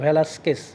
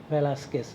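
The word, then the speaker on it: Velázquez: এবং ক্যানভাসের উল্টাপিঠ দেখেছে, এই হচ্ছে ভেলাস্কেস আর্টিস্ট, স্প্যানিশ, হ্যাঁ উচ্চারণ ভেলাস্কেস, VELAZQUEZ, জেড হচ্ছে এস উচ্চারণ করে স্প্যানিশ, ভেলাস্কেস।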